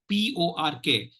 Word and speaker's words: pork: know this this pork they'll not say pork they will say fork and there will be